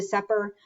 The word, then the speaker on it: VSEPR: vesper theory okay um i pronounce it vesper theory some people say it's the supper however you want to pronounce it whatever i say it's best for yes i know the vowel is in the wrong spot anyway v-s-e-p-r theory valence